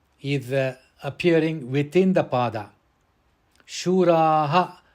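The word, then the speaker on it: शूराः: Shuraha, it has to be pronounced Shuraha because it is appearing at the end of the pada.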